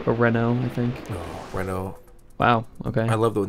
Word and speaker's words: Renault: Renault I think oh Renault wow okay I love the the word Rena Rena is a great word because it's spelled so differently than it's said yeah yeah renol how many if you